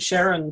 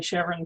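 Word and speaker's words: Charon: pluto's largest moon um i always thought we were supposed to say it sharon to honor the the discoverer's wife i i know i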